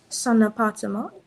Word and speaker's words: son appartement: Son appartement. Très bien. Son appartement. Okay? So you need to link the N with the A.